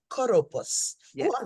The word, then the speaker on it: Kouroupos: Oh, Kouroupos, please give us the proper pronunciation of your name, Sister. Kouroupos. Kouroupos.